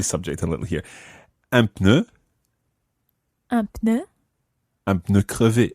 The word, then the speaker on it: pneu: French words, is un pneu. Un pneu. Sounds a little bit like you're sneezing. Un pneu. Bless you. Or it sounds at least as if you've got the cold.